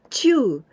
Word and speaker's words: 中: Other example, when we pronounce this kanji, Chuu, for example, and also with the nature.